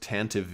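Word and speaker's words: Tantive: the chance to be for some units it's pronounced Tantivy even though I don't agree with that pronunciation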